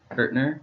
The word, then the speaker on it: Kirchner: Last name, Kirchner, Kirchner. So the CH is pronounced like a T.